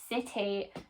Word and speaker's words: city: So we've got that pronunciation right at the beginning because it is followed by an I. And we've got an E sound at the end, which we write with a Y.